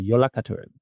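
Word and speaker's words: Jólakötturinn: The Yola Katurin is how you actually pronounce this really long, kind of crazy name.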